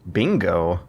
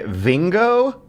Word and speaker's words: Bingo: Bingo. Bingo Murahashi, and his name is spelled in katakana. I think you got to clarify Vingo or No, bingo. bingo, like as in the game, and The it's old spelled in people katakana play.